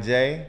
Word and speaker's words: Jai: But if you go to my website, J Music, J, the J is spelled J-A-I.